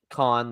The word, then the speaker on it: Kon: Or Kong? Con, like Con. C, like kind of like a con, like as a con man. It's not spelled the same way, but spelled with a K.